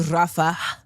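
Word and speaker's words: Rafah: To Rafa uh to to hopefully open the corridor.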